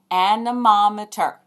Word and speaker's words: anemometer: We measure wind speed with a tool called an anemometer. Let me say that a little more slowly. Anemometer. 5 syllables.